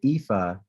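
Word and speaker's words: Aoife: help his other colleague her name is IFA and it's spelled a-o-i-f-e Fitz Morris she's the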